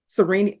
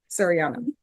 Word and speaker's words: Sariana: Serini, how do you pronounce it? Shadiana? Sariana.